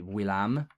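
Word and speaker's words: villam: it's going to be Willam by the way if you notice I pronounced the V almost as a w um Latin speakers often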